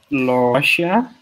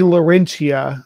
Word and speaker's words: Laurentia: doing its own thing is it is it pronounced russia this is there'll be laurentia the rage is a different super continent that